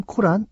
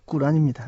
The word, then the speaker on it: 꾸란: 이슬람 코란 아닙니다. 꾸란입니다. 네. 아랍어로 꾸란이라고 발음을 하죠.